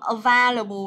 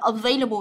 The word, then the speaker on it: available: Không đọc là available hay là cái gì đó. Đọc là available cho cô, available, nhớ chưa?